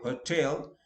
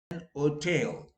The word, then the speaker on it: hotel: Words where H can be silent. I'm saying be silent means some people in the West, they pronounce it differently, like hotel. Okay. Most of the time people say hotel, But sometimes I went to an otel.